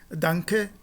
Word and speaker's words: danke: em alemão, se diz danke, ich danke. Esse N, ele tem exatamente esse som de uma nasal gutural, e tanto no caso